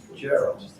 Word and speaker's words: Gerald: Mike, Gerald. Did I pronounce that right? Yes, you did. Once, okay. Most people say Jarrell, so Jarrell's pretty good.